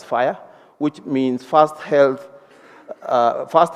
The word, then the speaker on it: FHIR: FHIR, they pronounce it as fire, which means fast health fast health care interoperability resources for health.